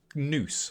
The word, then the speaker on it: gnu: anyone know that ganous noose I'm assuming you don't pronounce the G I don't know what